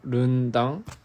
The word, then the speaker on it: rendang: Rendang is pronounced Rundang.